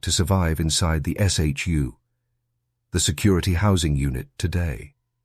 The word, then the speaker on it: SHU: The heart of this system is the security housing unit or SHU, pronounced SHU.